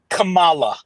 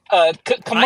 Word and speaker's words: Kamala: We just heard Kamala Harris speak.